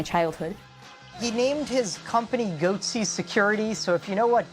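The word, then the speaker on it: Goatse Security: They're called Goatsy Security. Is that my pronouncing that correctly?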